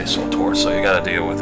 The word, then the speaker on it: SWTOR: I'm aware some of you prefer to pronounce it Tor, some of you prefer to pronounce it something else, but I say SWTOR, so you gotta deal with it.